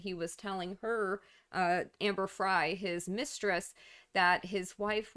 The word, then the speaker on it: Frey: Worse, a woman named Amber Fry, it's spelled Frey, it's pronounced Fry, came forward and announced